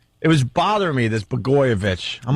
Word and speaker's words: Blagojevich: Blagojevich. Blagojevich. That seems pretty easy to say. Yeah, well, it's spelled weird, but they just call him Blago, or use the first 5 letters or whatever.